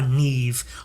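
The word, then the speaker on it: Niamh: love again Neeve slain ah Neeve I only know how to pronounce that Irish name all the others I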